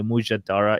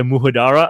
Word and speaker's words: mujadara: yeah I'll have the muhadara I'm like this is not Taco Bell like what is a muhadara and they they don't pronounce the J because they think it's